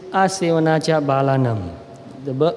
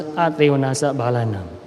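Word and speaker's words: Asevanā ca bālānaṃ: In Pali it is Asevanacha Balanam. In Burmese we pronounce in a slightly different way. We pronounce Atevanasa Balanam.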